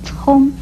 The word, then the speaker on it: 从: 从还念聪，国语注音是呲翁聪，一声聪。